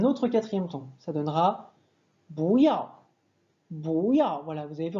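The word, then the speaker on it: 不要: Ça donnera bouyao. Bouyao. Voilà, vous avez vu en pinyin, on écrit bouyao, mais on va prononcer Bouya.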